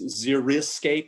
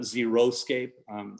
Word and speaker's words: xeriscape: By the way, just a little thing, it's xeriscape, not xeroscape.